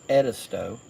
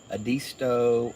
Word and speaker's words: Edisto: the background and it's edisto not adisto or um edisto it's like ed a person's name ed is and toe so edisto is how